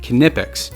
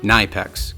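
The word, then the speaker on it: Knipex: cutting Nippers and yes according to my research it's pronounced kipic not nyex go figure you can find these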